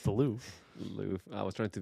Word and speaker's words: Louvre: So I still know how to pronounce the Louvre.